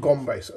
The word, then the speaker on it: Gumbass: one was this fellow the gum base or gum base they pronounce it gombas which I suppose is technically more correct because the gum base